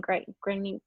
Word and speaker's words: Grenier: Grenier.